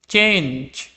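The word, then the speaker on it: change: চেঞ্জ, এখানে দেখো জি এর পরে ই রয়েছে, সেজন্য এটার উচ্চারণ হয়েছে জয়ের মতো।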